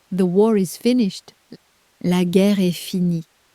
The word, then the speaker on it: finie: It takes one extra letter at the end, and that letter is completely silent.